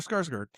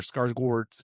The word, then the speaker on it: Skarsgård: Alexander Skarsgård. Yeah, I'm pretty sure Skarsgård. No. Yes, look at it. Skarsgård. You're supposed to pronounce that Gord.